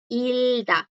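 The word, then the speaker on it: 읽다: Entonces, como ven acá, chicos, el verbo leer sin conjugar es hilda. No suena esta porque la bloquea una consonante.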